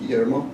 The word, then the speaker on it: Guillermo: The U is silent and double L is Y, so the name's pronounced Guillermo.